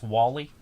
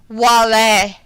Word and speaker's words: Wale: His name's Wally. Wale. Oh. It's French pronunciation. Okay. It's Wale.